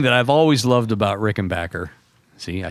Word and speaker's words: Rickenbacker: But uh the one thing that I've always loved about Rickenbacker See, I said it right.